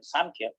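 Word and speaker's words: Sāṃkhya: and sufferings of life incidentally the term sanchez has got two meanings when we pronounce sanchez with an m emphasis on m samkhya it means samakhati samakati means right knowledge and that right knowledge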